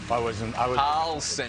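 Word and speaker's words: John Carlson: And how do you say that last guy's name? John Torch? Carlson is how he says it. Same guy, same pronunciation at least for the last name.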